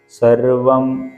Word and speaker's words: സർവ്വം: ജായതേ ജ താഴെ ജായതേ അവിടെ സർവ്വം എന്നാണ് അതിന്റെ ഓരോരോ അക്ഷരങ്ങളെ വ്യക്തമായി വ്യക്തമാക്കാൻ വേണ്ടി സർവ്വം എന്ന് ആണ് അതിൻറെ ഉച്ചാരണ രീതി വരുന്നത് സർവ്വം ജഗതിതം തത്വോ ജായതേ തുടർന്ന്